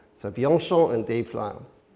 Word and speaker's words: Bianchon: His family name, his last name is pronounced Bianchon.